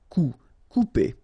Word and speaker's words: couper: Couper. Okay, when you combine this O and U together, you will get the sound OU. Okay, couper.